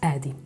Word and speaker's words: Adi: O meu nome é, mas os amigos tratavam por um diminutivo, Adi. Em inglês pronuncia-se Eddie.